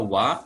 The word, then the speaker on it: は: Lalu untuk huruf H ini dibaca juga wa kalau sebagai kata bantu.